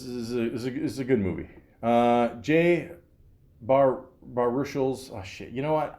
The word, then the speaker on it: Baruchel: Jay Baruchel's, oh shit, you know what?